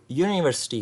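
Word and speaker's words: university: तो जो इसकी करेक्ट प्रोनाउंसिएशन है अकॉर्डिंग टू नेटिव स्पीकर्स वो यूनिवर्सिटी है, यूनिवर्सिटी। सो यू जो सा वर्ड है वो यू से स्टार्ट नहीं हो रहा, वो हो रहा है YEW से।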